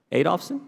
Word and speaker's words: Adolphson: Adolphson. Adolphson? Did I pronounce, where did I put the accent? Say it again. Adolphson. Adolphson, all right, put the accent to the right place.